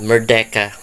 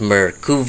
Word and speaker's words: Mura: uh mura looks like I could have uh mispronounced it or perhaps it's not a very common name for me to pronounce so I might have uh stated Mera in the previous video or something but uh to correct it it is mura so uh it's kind